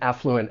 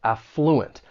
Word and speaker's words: affluent: When pronouncing this word, the stress is going to be on that first syllable, affluent. Now, that is the way you're going to find it in most English dictionaries. However, you may hear some people stress that second syllable, and in that case, that first syllable is then going to have that schwa sound, that uh sound.